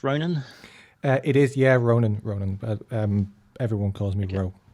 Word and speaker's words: Ronan: Is it pronounced Ronan? It is, yeah, Ronan.